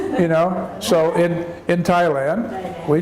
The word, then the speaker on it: Thailand: AI la in the Thailand you don't say the H you just say the T but in English in English we would say Thailand but but that would